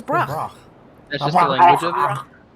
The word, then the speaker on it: Brock: Say it like what? Like broccoli.